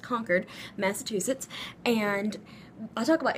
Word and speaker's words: Concord: in this town called conquered it's spelled Concord but pronounced conquered Massachusetts and I'll talk